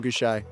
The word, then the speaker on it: Gausha: Think he's You pronounce his name Gausha? Uh Terrell Gausha.